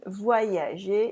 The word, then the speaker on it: voyager: have un Y, and le Y is pronounced like I plus I. So, voyager. Remember? Voyager. You can cut all the words with an Y like this into voyager. And this way you never forget any letter that should be pronounced.